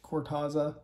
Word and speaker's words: Cortaza: She's helping Cortaza, yeah, that's how you say it, Cortaza, you know, try to